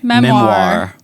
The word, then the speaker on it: memoir: Memoir. Memoir? Yeah. Like the French pronunciation.